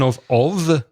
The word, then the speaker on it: of: Remember the pronunciation of? It becomes weak.